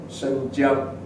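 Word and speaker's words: 申江: John's University, but it's a college called the name of Shenjiang. Shenjiang, phonetically, it's like St. John's.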